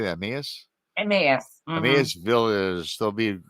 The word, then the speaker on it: Emmaus: Emmaus?